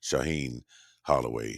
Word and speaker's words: Shaheen Holloway: i i'm thinking about it here i did mispronounce uh coach holloway's name from saint peter's is shaheen holloway who i believe is going to get another